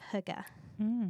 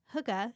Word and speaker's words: hygge: The concept of huga.